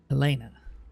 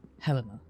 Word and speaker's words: Helena: Helena, right? Not Helena, because we'd say Helena, as in Helen. The name Helen. Not Helena.